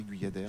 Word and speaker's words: Guyadère: J'ai bien prononcé Guyadère? C'est parfait.